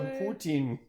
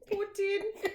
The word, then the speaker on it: poutine: those to Tim Hortons and buy yourself some poutine Putin Tim Hortons all five people watching this video how do we pronounce that word what word I think that's